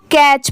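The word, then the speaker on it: catch: अगर दोनों मिला देंगे तो इसको कैच पढ़ेंगे कैच इसको कैट नहीं पढ़ेंगे इसकी प्रोनंसिएशन यहां पर कैच की हो जाएगी ठीक है यहां पर टी साइलेंट हो जाएगा नेक्स्ट है ऑल द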